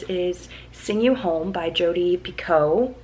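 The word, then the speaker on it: Jodi Picoult: sing you home by jody pico i think i'm saying it right now because they said it in the beginning of this book anyway i am let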